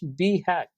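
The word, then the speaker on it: BHAG: as be Haqq right so we pronounce it as B hack where B stands for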